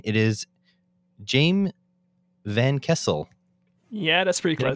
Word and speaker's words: Jaime Van Kessel: It is Jaime Van Kessel. Yeah, that's pretty Did I get close. it? Oh, Yeah, damn. Jaime Van Kessel.